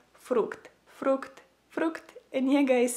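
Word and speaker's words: фрукт: So if you want to say fruit in Ukrainian, you would say it like fruct, fruct, fruct.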